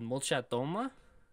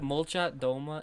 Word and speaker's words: Molchat Doma: So the band we're going to listen to is called Molchatoma. And the album... is pronounced etaji, as Google Translate tells me. It means floors. If you look up Molchat Doma, MOLCHATDOMA, it's their like most popular one.